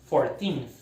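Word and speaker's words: fourteenth: Sílaba tônica é a segunda, 14th.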